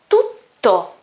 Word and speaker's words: tutto: It's not tu, it's tu. So we have first T and then a double T. As we said last time in my previous video, in my first video, talking about pronunciation, when I have a double consonant, the sound is longer, okay? Almost twice, okay? Twice the normal sound of a single consonant.